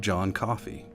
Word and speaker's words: John Coffee: But one that really stands out is the story of John Coffey, just like the drink, and spelled the same.